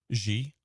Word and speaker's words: Xi: Xi.